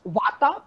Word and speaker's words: Vata: And this is how you pronounce Vata, Pitta and Kapha, right?